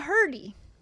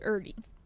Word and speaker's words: Erdy: Ow, doctor, I'm a herdy. He's like, it's actually Erdy.